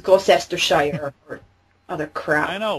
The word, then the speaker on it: Gloucestershire: I mean, if no one had ever, like, you know, heard the English pronunciation, they'd make the same mistake I did and think it was Gloucestershire. As I said, the English. Because you know why? Because when we have C's in words, we tend to think you pronounce them.